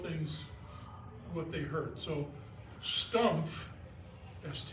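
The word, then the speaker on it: Stumpf: out of Boden and they don't pronounce the F it's stump so when they came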